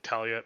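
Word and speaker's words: Tala: think her name is it's t-a-l-a but i think they say it like talia but anyway um she's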